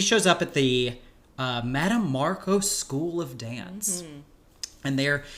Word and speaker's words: Markos: And there's this schism between some support Markos. Yes. Or there's that one woman who says Marcus. And it throws me, I'm like, no, coach her on how to say this.